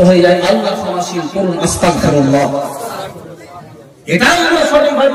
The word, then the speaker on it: আস্তাগফিরুল্লাহ: মানুষটার ঈমান নষ্ট হয়ে যায় আল্লাহ ক্ষমাশীল বলুন আস্তাগফিরুল্লাহ এটাও আমরা সঠিকভাবে উচ্চারণ করি না আর দন্তস ককার আস্তাগ আর